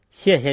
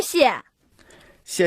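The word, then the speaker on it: 谢谢: Now, there's no definite rule for when a fourth tone turns neutral. And if you were to say 谢谢 or 客气 as two definite fourth tones, people would still have no problem understanding what you're saying.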